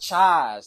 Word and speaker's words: Chise: Chise.